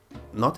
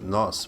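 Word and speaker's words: nós: notice that in Portuguese not everything is pronounced the way it's written for example the object pronounce it's both CH Chi or the object pronoun n oos no it isn't pronounced NOS but no so it can vary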